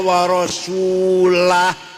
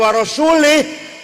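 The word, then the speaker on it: وَرَسُولُهُ: salah yang benar wa annallaha bari'um minal musyrikina wa rasulah Allah tidak melindungi orang musyrik dan Rasulullah pun tidak melindungi orang musyrik kalau Rasulullah bacanya kalau baca wa rasulah Allah tidak melindungi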